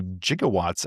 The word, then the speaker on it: gigawatt: Well, but interestingly, so jigawatts apparently that J is a you can say it that way. That's the proper Greek pronunciation or whatever it is.